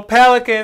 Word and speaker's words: Pelicans: Let's go Pelicans. They have breadcrumbs in there. Well, you said no, Rockets is 2 syllables. Pelicans is 3 syllables.